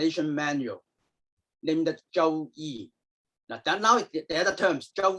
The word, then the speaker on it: Zhou Yi: We also refer this book as another name, Zhou Yi.